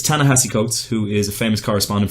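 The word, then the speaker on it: Ta-Nehisi Coates: which is written by Tallahassee Coates which I mispronounced last time but it's Tallahassee coats who is a famous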